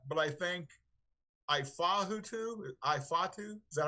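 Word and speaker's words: Ifeatu: And but I think I could be wrong, but I think Ifatu, is that how you pronounce it? Ifatu, yeah.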